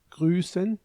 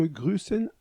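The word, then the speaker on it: grüßen: remarquons en passant que grusen a un autre type de lettre le S cette espèce de B majuscule qui se prononce s en Suisse on écrit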